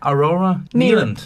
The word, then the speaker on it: Aurora Nealand: How do I pronounce the name? Aurora? No. Aurora. Aurora? Nealand.